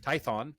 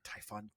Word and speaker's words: Tython: Tython, not Typhon. Damn it.